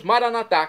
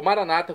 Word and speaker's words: maranatá: E agora eu clamo do aramaico, dialeto de Jesus, maranatá, como dizemos nós católicos, ou maranata, como dizem nossos irmãos separados, os evangélicos ou protestantes. Não importa a pronúncia, o significado é o mesmo.